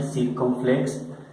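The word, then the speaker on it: circonflexe: Este acento circunflex, se pronuncia circunflex, es este acento, como un pequeño gorrito que vamos a encontrar ubicado en todas las vocales.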